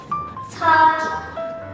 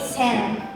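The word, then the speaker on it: 先: sendiri seperti ini, nggak ada kanji-kanji lain, dan dibacanya itu saki. Apabila dia ditemani dengan kanji lain seperti ini, kanji seperti ini ya, kanji hidup dengan kanji terdahulu. Nah, maka dia dibacanya jadi sen.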